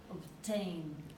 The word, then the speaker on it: obtain: Obtain. Exactly. Obtain. That's the same idea. The stressed syllables, the last one. So obtain. Obtain.